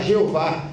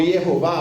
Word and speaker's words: Jeová: É o tetragrama que os judeus usam, são quatro letras que é impronunciável. Não é? Que para que a gente possa pronunciar, os judeus pegaram as vogais do nome Adonai e colocaram nessas quatro consoantes para que nós pudéssemos pronunciar Jeová ou Iehová ou Javé.